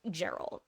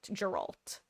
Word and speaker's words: Geralt: The Witcher is the first time I've seen a character name spelled with a G have it be pronounced a hard G, but the first time I read it thought it was Gerald. Geralt. Maybe because it sounds like it's kind of similar to Gerald.